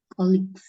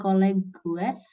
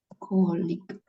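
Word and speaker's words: colleague: ya ya Bu gu bukan Col colig Artinya apa colig itu kayak rekan enggak sih ya rekan kerja bukan colleges ya tapi colig colik cara bacanya gini nih kolik gitu coba dibaca kig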